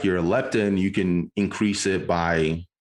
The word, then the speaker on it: leptin: Leptin?